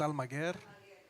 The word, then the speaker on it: Almaguer: I want to say Almaguer. it's Almaguer. Almaguer.